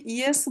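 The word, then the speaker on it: ja: তো এরপরে ঝর্ণা সুলতানা আপু, আপুর জন্য আমরা যদি ইয়েস বলি, ইংরেজিতে হ্যাঁ বলি, বাংলাতে হ্যাঁ, তখন জার্মানে কিভাবে বলবো এটা দেখে বানান করে একটু বলেন।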